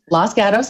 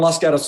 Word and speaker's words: Los Gatos: service got us go say it right Los Gatos auto service yeah you my Southern drawl so thank you going les gotta service this is